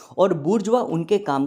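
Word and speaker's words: bourgeoisie: द बुरजवा। ये जो word लिखा है ना बी ओ यू आर जी ई ओ आई एस आई ई इस वर्ड को प्रोनाउंस किया जाता है बुरजवा।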